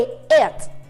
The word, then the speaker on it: it: Sí, ese que ustedes están viendo ahorita, que es con I y T, se pronuncia como si fuera una E, it.